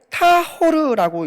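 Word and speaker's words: טהור: 정결이라는 단어는 히브리어로 타호르라고 읽습니다.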